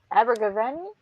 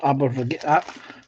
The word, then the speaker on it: Abergavenny: met Christopher Baggins in Abergavenny. Am I pronouncing that right? I don't think so. Abergavenny. You got me saying Abergavenny. Abergavenny. Abergavenny. Yeah. Abergavenny. Okay. I had the stress on the wrong syllable.